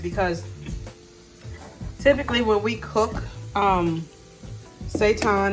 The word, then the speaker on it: seitan: I really don't know what to expect because typically when we cook, seitan is how you pronounce it, to make substitute meat dishes, you have to steam it.